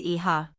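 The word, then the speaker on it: hija: The h is silent so it is pronounced roughly as e-ha.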